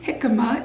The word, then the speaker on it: jicama: But this is jicama. It's spelt J-I-C-A-M-A, and it's a Mexican root vegetable.